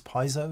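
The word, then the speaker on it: piezo: Uh we say piet because it's pzo electric. And I think in America the pronunciation is piso.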